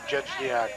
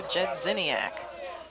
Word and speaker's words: Jedziniak: 1 ball to Jedzniak. Okay, we left out a syllable there. Fastball, call strike 1, 1-1. Bruiser Jedziniak.